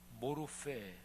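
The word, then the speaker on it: μορφή: 단어가 그냥 같은 단어예요 헬라 발음으로 모르 이렇게 발음하는데이 뜻이 뭐냐면 영원히 변하지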